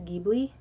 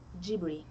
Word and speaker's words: Ghibli: way they pronounce it gibber it's not ji it's gibber because they do not have the l sound so the way that